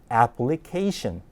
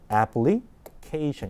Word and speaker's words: application: 실제 발음은 application. 자, 리듬이 어때요? 굴곡이 2번 생기죠? application 이렇게 되는 거죠. application.